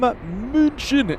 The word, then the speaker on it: München: We are live from Munchin, as the locals say.